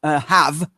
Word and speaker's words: have: So if we're looking at clearly, that, or if we're looking at something like have, we don't pronounce the E.